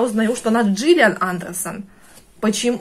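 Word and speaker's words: Gillian: никак не могу уложиться, почему она была Гиллиан, а стала Джиллиан, да? Потом, конечно, я поняла, что это самое, что там эта буква по-английски, вот эта G, да, и читается она, по идее, как G, но по правилам русского языка вот эти первые самые переводчики, они обязаны были называть ее Гиллиан Андерсон. А потом пошел всемирный интернет,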